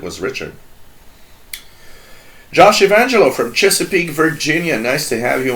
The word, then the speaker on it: Chesapeake: able to purr to pronounce Chesapeake as it's supposed to be Chesapeake ah man it's pretty cool